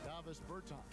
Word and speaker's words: Davis Bertans: Oh, well now at this point in my life, it's Davis Bertans. Is that how you say his name? Yeah. Huh? Davis Bertans.